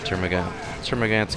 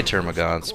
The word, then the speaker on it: Termagant: Termagant's getting out of there now. They say Termagants, but it's spelled Termagant.